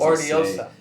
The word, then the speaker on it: Hortillosa: You could pronounce the H, you could not pronounce the H, you could do the 2 L's. In the Philippines, Hortillosa. they would say Hortillosa because it's like L-Y sound.